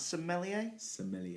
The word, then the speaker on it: sommelier: yourself at this age how do you pronounce sommelier as sommelier is a wine Steve's just spot his coffee it's like a wine expert right so somebody who